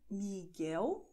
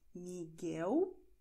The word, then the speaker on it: Miguel: Das heißt Miguel Thelma. Miguel Thelma. Okay? Bei Miguel ist dieser U stumm.